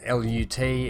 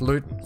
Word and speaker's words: Luton: I guess we just L-U-T, everything becomes Lut. And probably more pronounced because of my northern Australian accent more so. We seem to be a bit more slang heavy. But it is actually pronounced Luton.